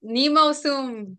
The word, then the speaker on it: Nemo Sum: next, Is it Nemo Sum or Nemo Sum? Come on. Settle it for us. I assume rhyming with doom or gloom. Tomb. all right, perfect. That's Nemo Soon, bringing the doom.